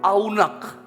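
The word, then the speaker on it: עָנַג: Ibrani itu pakai kata aunak tulisannya a n a g tetapi pelafalannya adalah aunak dalam bahasa Ibrani aunak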